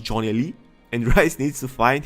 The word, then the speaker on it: Jonelli: It's spelled not G, Jonelly. Of course it's pronounced Johnny, and Rice needs to find him and tell him the truth.